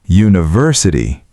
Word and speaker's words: university: University. Consonant sound U.